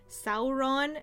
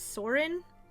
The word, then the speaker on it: Sauron: I don't have a problem with Sam Wise's voice actor, but if he keeps pronouncing Sauron as Saurin, I'm gonna crash out even harder than I'm already crashing out.